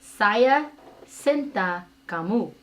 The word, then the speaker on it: Saya cinta kamu: Saya Cinta Kamu.